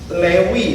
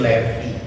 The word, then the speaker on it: Levi: Lewi bacanya sebetulnya cuman dipakai merek jin jadi Levi.